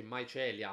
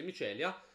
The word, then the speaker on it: Mycelia: di ruada In conclusione micelia che poi Piccola parentesi Spero non si pronunci ma Celia ma penso di no dovrebbe essere micelia è un gioco molto